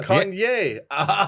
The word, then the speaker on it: Kanye: Kanye.